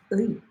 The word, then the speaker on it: 의: How to properly pronounce 의. 의. 의. She just did that. 의. On its own, 의 is pronounced like that.